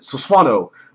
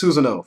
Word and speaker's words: Susanoo: Or how retards pronounce it. Suswano. But yeah, it's Susanoo for all you freaking idiots.